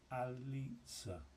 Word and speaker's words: Aliza: So is it Aliza? Aliza? Ali. So I would normally see when you put that like pizza, pizza, Alitza, Alitza.